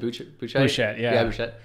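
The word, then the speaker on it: Buchheit: How do you pronounce it? Bouchet.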